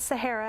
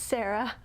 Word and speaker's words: Sarah: something weird like that it's not sahara it's just sarah but my channel name